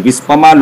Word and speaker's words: Vispa: It is long E only. Vispama long E chef.